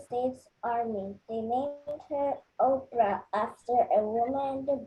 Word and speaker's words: Oprah: Army they named her Oprah after a woman in the Bible people often missed pronounce her name switching the r and the P so instead